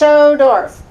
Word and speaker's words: Schodorf: a K and it's pronounced schodorf it's a little hard to pronounce but I want everybody